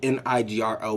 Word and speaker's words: Nigro: It's not even spelled like that type of Negro. It's spelled N-I-G-R-O, but still, nobody wants to say it. It could be Dan Nigro.